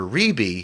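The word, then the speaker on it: Rebbie: It's pronounced But it's Rebe. pronounced Rebe.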